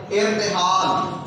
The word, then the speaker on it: ارتحال: ارتحال، الف کے نیچے زیر لگائی ہے، رے کے اوپر جزم لگائی ہے، تے کے نیچے زیر لگائی ہے، ہی الف ہا کے اوپر زبر ہے، اور نام جو کہ